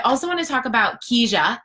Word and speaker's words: Kijia: I also want to talk about Keja. It's pronounced Keja, which is a little bit tricky, but it's a Swahili, in Swahili, it means path.